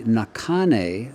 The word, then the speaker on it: Nakhane: And then there'll also be Nakane, who is spelled Nakhane.